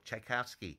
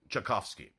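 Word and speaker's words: Tchaikovsky: thinking about the past I mispronounced it and the only way I knew how as a boy chaikovsky it's chovsky but I said chaikovsky and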